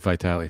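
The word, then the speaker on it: Vitale: this girl's only fans it is Dick vital though it is spelled with an e at the end instead of a y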